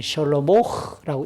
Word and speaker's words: 솔로몬: 그러니까 솔로몬 시대에 이 태평천하가 이루어지고 있다는 말은 솔로몬의 시대에 드디어 이스라엘과 주변국들이 누리고 있는 이 평화는, 이 평화의 시기는 이동형 성소를 대체하는 성전 건축이 필요한 시기가 되었다라고 하는 것을 알려주는 겁니다. 솔로몬의 히브리식 발음이 셜로모흐라고 읽습니다.